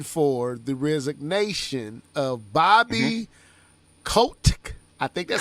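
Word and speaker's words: Kotick: the resignation of bobby kotec i think that's how you say it i said coptic the first time you said no you said we gonna say c-o-t-i-c-k there you go now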